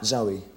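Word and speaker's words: Zowie: Zoe, Your son's name is Zoe Bowie.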